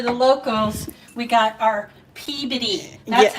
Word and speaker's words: Peabody: And for the locals, we got our Peabody. That's Yeah. how we pronounce it.